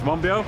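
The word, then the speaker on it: Monbiot: uh george uh george monbio who i just apologize because i've always been pronouncing uh your name wrong because of the t at the end uh mombosa is uh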